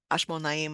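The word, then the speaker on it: חשמונאים: And so they're they're called the Hasmonam Nava could tell us Ashmonaim. I don't know exactly how you say it in Hebrew. This is one of their coins. Yeah, you're saying it right.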